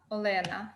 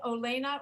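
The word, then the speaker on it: Олена: Do you pronounce it Olena, or is that how people say it in the United States? It's how people say it in Ukraine, Olena. And this is formal form. Short form is Lena.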